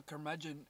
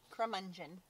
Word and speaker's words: curmudgeon: crumb engine should I say that right a curmudgeon in real life yeah you said it right crumb engine no there's the dog here there's a dog